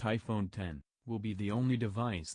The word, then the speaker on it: iPhone X: ditches the home button the iPhone X which is pronounced iPhone 10 will be the only